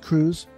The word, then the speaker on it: Cruse: are you ready and your last name is pronounced Cruz you got it okay like the ship okay okay you ready